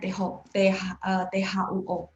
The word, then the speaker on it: tuo: Tuo, t bacanya THUO. Pas baca tuo, teman-teman dengar ada angin nggak?